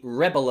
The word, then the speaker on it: rebel: alliance rebel rebel rebel this is also a verb to rebel there's something crazy english pronunciation for you again if this is a noun rebel if it's a verb rebel if you want to